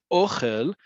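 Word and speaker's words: אוכל: But ochel versus ochel. Ochel, right? This first word here in Hebrew and in the transliteration, ochel, where the emphasis is on the first syllable, on that o. Ochel is food.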